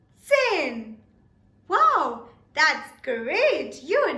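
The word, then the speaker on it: zehn: Sin Sin now again the t is very very specific and important in this context it is very essential that you do emphasize on the tiny T so it becomes and not Zan Zan will be wrong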